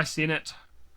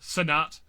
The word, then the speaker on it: Cenat: Content creator of the year, we got Cadril, we got Kai Cenat, we've got. I probably pronounced that also very wide. I think people pronounce it Sinat.